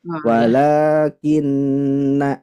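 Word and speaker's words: وَلَٰكِنَّ: Ibu terlalu panjang di sini. Walaki. Nah, tapi walakinna seperti itu. Tadi terlalu panjang.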